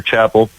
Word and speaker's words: Chappell: know me you know say my name's Chapel oh Chapel Chapel yeah I don't I don't believe my hillbilly ancestors carried on the tradition of the traditional pronunciation but I'll say you know you can here's how you spell my name the first p and the second L is silent well there you go